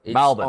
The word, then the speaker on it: Melbourne: M A L. The A is optional. Yeah. Um yes. No Rs. Certainly no Rs.